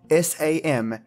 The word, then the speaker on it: Samhain: Spelt S-A-M-H-A-I-N but pronounced Samhain.